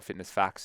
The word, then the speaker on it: FitnessFAQs: of the youtube channel fitness faqs or fitness facts is also how it's pronounced as well but i'm excited for